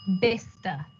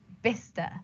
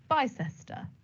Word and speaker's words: Bicester: great designer outlet we love going there it's vista vista and i can assure you before that designer outlet was built i was calling it bicester so you're not alone number three how do